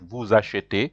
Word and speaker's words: vous achetez: So here the verb to buy begins with a vowel A. That's why you have to join it with vous. So it is pronounced like vous achetez.